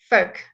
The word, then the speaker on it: folk: Folk, folk, folk, folk. That's how, Robert, that's how you pronounce folk, okay?